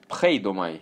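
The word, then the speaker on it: φείδομαι: Pheidomai or pheidomai. Пхейдомаи. Глагол в депонентной форме пишется не так, а " pheidomai", что означает "жалеть".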